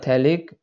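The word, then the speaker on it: phthalic: थैलिक acid, P P silent है, ठीक है। थैलिक एसिड पीएच है, PHTH, ठीक है।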